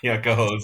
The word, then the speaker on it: Cohoes: I can't pronounce that city across from Troy. Cohoes? Oh, Cohoes? Yeah, Cohoes, yeah.